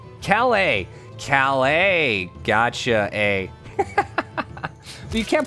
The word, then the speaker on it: Calais: out there alle alle oh yeah I'm terrible pronouncing you should know this about me you heal Kella that's what's saying Calla Calais Calais gotcha eh you can't put that whatever